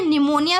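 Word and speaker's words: pneumonia: ये देखो साइड में लिखी हुई है ना निमोनिया की स्पेलिंग। इसमें पी साइलेंट होता है।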